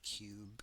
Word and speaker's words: QBE: Now what you want to do we have to install the cube compiler back end. I'm pretty sure it's can pronounced cube but it's QBE.